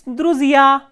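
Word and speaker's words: друзья: It is druzia, druzia. So, here stress is on the ending ya.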